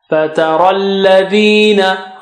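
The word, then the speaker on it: فترى الذين: Fatara alladhina. Ra is thick, and after ra you have ya and alif, so we don't pronounce them because they have no signs on them.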